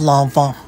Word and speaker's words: Loewe: one yet biz landmann it's actually pronounced lava this you should know